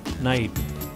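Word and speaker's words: knight: When K is with N in the beginning, it is silent.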